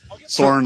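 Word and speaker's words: Søren: Soren like an eagle.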